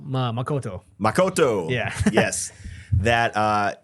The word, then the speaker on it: Makoto: was reading that um I keep saying his name wrong makato ma Makoto Makoto yeah yes that uh he I was